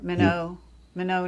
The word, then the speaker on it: Minot: It's Minot. Yeah, Minot, North Dakota. That's the French pronunciation. Yeah. We Americans call it Minot here.